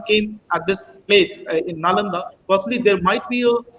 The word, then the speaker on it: Nalanda: first thing is that the name of nalanda which we generally pronounce as we are writing again actually the name is na landa it is it is the same way wrong pronunciation and wrong writing followed it comes from three